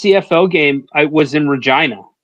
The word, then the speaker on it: Regina: And just my first CFL game, I was in Regina. Rhymes with fun.